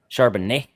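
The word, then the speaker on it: Charbonnet: Charbanet.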